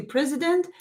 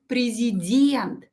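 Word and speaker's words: президент: is a president but pay attention to the stress it is uh not similar to the english stress of this word in english you say president in russian president yeah the last year stressed rashon and we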